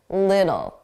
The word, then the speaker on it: little: So we pronounce that as a d, a soft D, little, little.